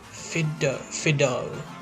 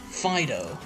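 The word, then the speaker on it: Fidough: here's the page okay fido yeah i'm pretty sure that's how you say it i mean it's like a pun you know fido and fight dope so this pokemon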